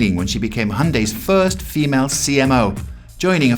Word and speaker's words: Hyundai: So they always tell us, just say Hyundai like Sunday. So that's what we say. But I think technically the correct pronunciation is Hyundai.